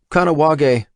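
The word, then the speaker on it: Kahnawake: of the US border Jake smiled not bad kanag he pronounced it kanag is a lot different from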